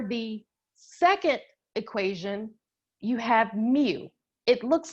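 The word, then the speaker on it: μ: set and for the second equation you have mu it looks like au but it's not and it's pronounced mu and it's the main of all the values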